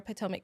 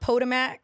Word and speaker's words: Potomac: It's not POTMAC or whatever they used to say. It is PTOIC.